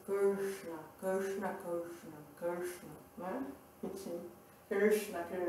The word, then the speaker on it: Krishna: Então, esse diacrítico Krishna, que é o cerebral ou cacumbinal, a gente